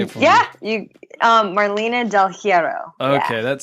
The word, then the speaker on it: Marlena Del Heirro: Marlena Del Heirro. Did I get that right? You say it for me. Yeah, Marlena Del Heirro.